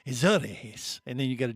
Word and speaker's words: Azores: And she's in the Azores.